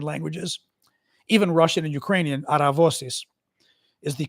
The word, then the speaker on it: Aravosis: No, the last name's Aravosis because it's Greek, but since I'm American, we say it the American way in English, Aravosis. But in Greek, it's Aravosis, which is similar, obviously,